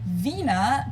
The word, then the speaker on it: Wiener: in German we say Vina the German W is pronounced like an English V and it usually refers